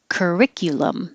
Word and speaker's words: curriculum: the f wolf wolf curriculum it can be you or it can be yeah curriculum or yah curriculum you can even get more relaxed and say ka instead of kirk curriculum curriculum which is